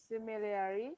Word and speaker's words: similarly: similarly, In British English, remember R is silent here, so we do not pronounce R.